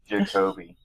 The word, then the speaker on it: Jacobie: How do you say Jacobie? Is it Jacobie, Jacobie, Jacobie? Jacobie. Jacobie, Yeah. right.